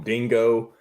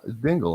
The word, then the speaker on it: Dingle: dingle's name spelled differently I've seen people call them dingo I've seen Dingle I've seen ding I don't think people know who he actually is it's just Dingle I would it is Dingle but I'm just just